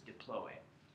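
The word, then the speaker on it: diploë: There should be a little of those cool umlauts over that E. For the pronunciation, the correct pronunciation is diploe.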